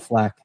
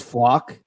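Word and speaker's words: Flach: he was commenting on my pronunciation of Flack. Did he give you a correct one? Because I still want to say it correctly. I want to say I'll have to ask him again. I think it's Flock. Leon Flock.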